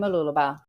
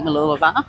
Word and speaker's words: Mooloolaba: But now we are going back to our walk around Mooloolaba.